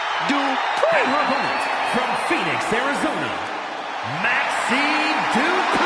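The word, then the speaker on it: Dupri: Uh, Michael, it's pronounced Drippon from Phoenix, Arizona, Maxine Dri.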